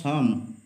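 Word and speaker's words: psalm: অফ a certain short সাম পি এস এ এল এম এখানে পি আর এল টা উচ্চ আছে সাইলেন্ট আছে উচ্চ হচ্ছে সাম সাম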